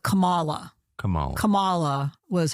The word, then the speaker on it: Kamala: ways I remember her putting the emphasis on the second syllable so it was like Kamala Kamala Kamala was how